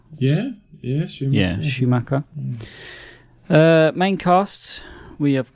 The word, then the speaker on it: Schumacher: directed by Joel Schumacher is that how you pronounce it Matt is it Schumacher yeah yes Schumacher uh main casts we have got Jason Patrick